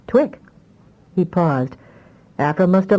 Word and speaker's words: Twick: Only she saw 2IC and pronounced it Twick."